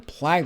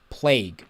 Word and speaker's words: plague: cure for for for the plag that they were carrying or the plague there we go that's the right way to say it all right and in